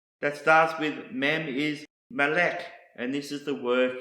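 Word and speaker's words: מלך: another Hebrew word that starts with mem is Malik and this is the word for King Malek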